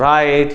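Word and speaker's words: write: फिर W और R में बचता है र, ठीक है ना, W हो जाता है वहां पे साइलेंट, जैसे कि रॉन्ग, राइट, ये सारे में W से शुरू होता है लेकिन साउंड बचती है R की।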